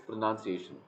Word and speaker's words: pronunciation: It's not PRO, it's PRU. Yes, sir. It's pronunciation.